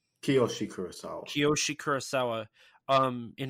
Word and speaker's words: Kiyoshi: clearly inspired by that um pulse uh the koishi Kurosawa did I say his name right kiyoshi kurosaw kiyoshi Kurosawa um in his movie Pulse